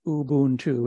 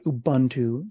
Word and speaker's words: Ubuntu: not too old also just FYI it is pronounced Ubuntu it's not Ubuntu so don't let people call it that if